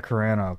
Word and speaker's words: Carano: Oh, Gina Carano. Yeah. I'm going to spell it wrong.